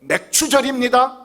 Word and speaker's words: 맥추절: 절기 이름이 뭐라고요 예이 확실해야 됩니다 확실히 발음하세요 예 맥추절 맥주이니 입니다 그래서 어떤